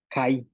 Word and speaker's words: kay: Ayin, lagarto, yaab, mucho, kai, pescado, ak, tortuga, al, pesado, ik, chile.